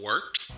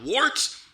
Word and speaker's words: Wørt: It is the Wort. Not wart, not fort, not short.